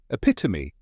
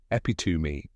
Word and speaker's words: epitome: spelled eepi t m e and the correct pronunciation is epitomy let's break it down epitomy say it slowly with me epitome got it